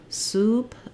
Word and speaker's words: soup: close as I go soup ooh I'm more rounded than tense and the vowel um is happening in the back more and higher ooh so using pair uh